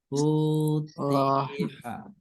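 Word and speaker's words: فُتِحَ: Ini bacanya Futiha.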